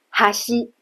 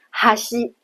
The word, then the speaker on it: 端: 比如表示两端边上的哈西，它就跟刚才的哈喜有所不同，它是没有上下起伏，完全平的，哈西。